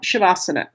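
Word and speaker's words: śavāsana: So we have shabbasana. Now the matter at hand. The first letter is the sh sound.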